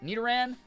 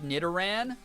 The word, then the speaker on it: Nidoran: Nid rhyming with kid. Oh, like Nidoran.